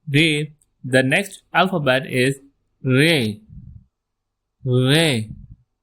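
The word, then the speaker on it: ڑ: Following Ray, the next alphabet is re ray. It's a strong retroflex are re and over it a same sign of tika for retroflex sound.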